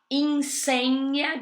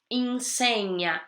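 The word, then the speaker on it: insegna: Piccolo Tom vamos lá em senha de novo atenção ao GN som de NH e papá em senha ele filho Jelly som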